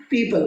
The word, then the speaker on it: people: मुझे किसी को पीपल बोलना है, इसको PEOPLE पीपल, पीपल का पेड़ होता है ना, वैसे पीपल बोलना है, प्यूपल नहीं कहना। प्यूपल का अर्थ होता है छात्र, PUPIL उसकी स्पेलिंग होती है, तो आपको इसको पीपल पढ़ना है।